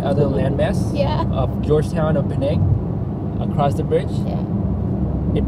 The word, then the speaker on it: Penang: This is our first time exploring Georgetown, Penang, and Penang is actually the correct pronunciation for Penang.